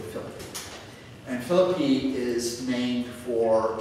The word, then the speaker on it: Philippi: You've heard of Philippi, sometimes pronounced Philippi, but it's really Philippi.